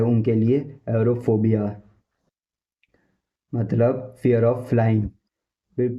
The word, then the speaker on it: aerophobia: इसको English professional language में बोलेंगे एरोफोबिया, एरोफोबिया, एरोफोबिया, एरोफोबिया, एरोफोबिया।